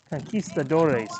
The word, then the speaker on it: Conquistadores: offsides against the conquistadors so conquistadores actually using the spanish pronunciation they put the d-o-r-e-s on the end in their first season